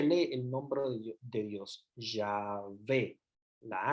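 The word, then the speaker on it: Yahvé: el nombre de Dios ya ve la H no produce pronuncia se pronuncia la primera obviamente las H tampoco se pronuncia en el hebreo es como la aspiración pero es ya fe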